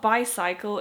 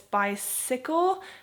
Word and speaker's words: bicycle: when you think about how you pronounce cycle um but it's not bicycle it's bicycle maybe that has something to